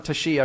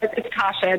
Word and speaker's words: Tashia: Is that how you say it, Tasha or Tashia? Because it's spelled amazingly. Yeah, no, it's Tasha. The I is silent.